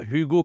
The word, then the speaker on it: Hugo: ouais Hugo en fait c'est pas Hugo comme en anglais le H il est muet et là il va